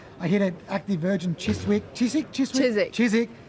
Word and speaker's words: Chiswick: hit an active virgin Chiswick silent W I'm a local now